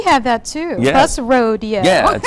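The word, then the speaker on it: Roadeo: It's spelled R-O-A-D-E-O. I like it. Well, we have that too. Yes. That's rodeo.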